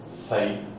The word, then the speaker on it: psi: Okay, that is represented by the letter psi, pronunciation psi, S-Y-E, psi.